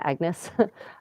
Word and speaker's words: Agnès: There's a great portrait of Agnès Sorel, you might pronounce her name Agnes, who was the famous